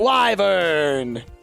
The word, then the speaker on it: wyvern: or wither and keep depending on how you pronounce that word but I pronounce it wyvern a rare laser disc